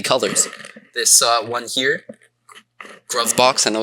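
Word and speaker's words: Gruvbox: This uh one here, Groov Box. I know it's pronounced Groove Box, but I always call it Grou box.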